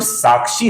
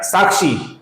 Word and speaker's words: साक्षी: अब यहां पर देखिए दोस्तों, ये जो साक्षी है ना, ये दीर्घ है। कुछ लोग इसका उच्चारण साक्षी ऐसा करते हैं, ये गलत है दोस्तों। इसका उच्चारण दीर्घ है। तो जो भी दीर्घ अक्षर आता है दोस्तों, उसका उसी तरीके से दीर्घ उच्चारण करना अभिप्रेत होता है। इसका उच्चारण है साक्षी, ना कि साक्षी। साक्षी ये गलत है, साक्षी ये सही है।